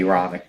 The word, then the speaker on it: Aaronic: that's not right blessing it's not a a role it's a a rhonic that's right so how do